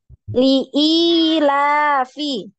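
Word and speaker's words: لِإِيلَافِ: Jangan ditasdid, yang tidak ada tasdidnya, jangan ditasdid. Ilafi Quraisy. La-nya panjang, Ukti Nuroya. La, li, la, fi.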